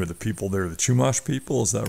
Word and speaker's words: Chumash: I'll probably butcher the name of the people there, the Chumash people.